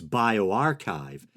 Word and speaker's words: bioRxiv: Those are the questions an international team of scientists began to probe in a new study available on the preprint database bioRxiv.